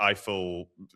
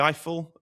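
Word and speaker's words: Eifel: The Eiffel Eifer Eiffel area? Eiffel.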